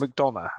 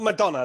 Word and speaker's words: McDonagh: You might have to correct my pronunciation here, Fisher. JD McDonagh, I believe it is. McDonagh. Okay, let's go with that then. Not Madonna, like Vogue.